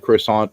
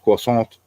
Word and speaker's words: croissant: They order a pastry and they're like croissant, and then you just get all these dirty looks because it's pronounced croissant.